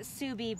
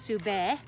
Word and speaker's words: Subi: So we pronounce it Subi, but we do have friends from Mongolia that work here and come, and it would actually be pronounced Sube.